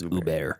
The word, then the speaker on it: Hubert: Uber pronounced Hubert or it's spelled Hubert but the French pronunciation is Uber yeah I got to